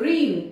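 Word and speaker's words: reign: रीन, देखिए यहाँ पर जी के बाद एन आया तो क्या हुआ, ये जी साइलेंट हो गया यहाँ पर।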